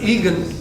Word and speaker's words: Egan: I often will say Egan like fried egg.